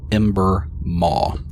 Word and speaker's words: Ember Maw: reveals the name old ember maw old ember m-a-w m-a-w like a mouth that's the name of